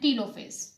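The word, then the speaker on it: telophase: मैं आपको उसके नाम बता देती हूँ, प्रोफेज, मेटाफेज, anaphase and टीलोफेज। इसको टेलो भी कहते हैं, टीलो भी कहते हैं, आप इसको दोनों तरह से प्रोनाउंस कर सकते हैं।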